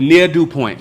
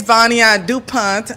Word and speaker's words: Vania Dupont: to Shonda oh man we making it but near do Point am I pronouncing it right yeah so please tell people